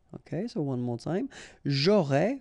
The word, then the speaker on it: j'aurais: J'aurais, final S not pronounced, tu aurais, same thing here.